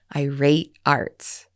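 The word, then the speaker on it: eyer8arts: e r the number eight a-r-t-s and that's pronounced irate Arts Ira's current business with the router also has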